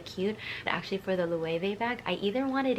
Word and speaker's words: Loewe: Okay, so another kind of not super popular brand, but I believe the way you pronounce it is Loewe, I believe. So it's Loewe, and their most famous bag is basically the puzzle bag.